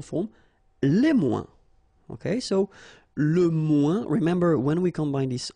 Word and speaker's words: moins: Okay, so le moins, remember when we combine this O-I-N together, we get the sound ouin, ouin, ouin, okay, and we don't pronounce this final S. Le moins, la moins, les moins.